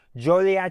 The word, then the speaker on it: Joliet: But Joliet is how everyone pronounces it. So just remember that it's not Jolly, it's Jolie.